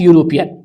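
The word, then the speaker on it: European: है ही is dash यूरोपियन देखिए यहां पे जो है स्पेलिंग ई से है जो कि एक वॉवेल है लेकिन यूरोपियन बोलते हैं यानी कि यू आ रहा है जो कि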